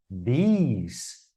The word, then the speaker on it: these: cada um, o primeiro i ali, que é pronunciado, né, ele é mais curto no this, this. E o segundo, these, vejam que tem dois pequenos pontos do lado do símbolo I.